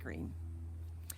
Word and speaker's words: Greene: is green that's green with a silent e at the end and i just moved